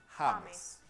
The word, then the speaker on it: James: el caso por ejemplo del nombre James que algunos se llaman James y otros como el jugador prefieren llamarse hames y aquí está otro